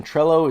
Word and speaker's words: Trello: one word and then trello t-r-e-l-l-o like hello tr trello so project management software